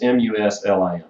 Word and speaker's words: Muslim: Arabic or the way most people this they pronounce it Muslim it's mus LM so Muslim and so that's that's